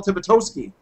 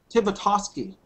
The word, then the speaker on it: Tibitosky: I'm talking with Phil Tibitosky. Did I say it right Nope. that time, Phil? You should just give up. Tibitosky. Tosky. Tibitosky. There you go.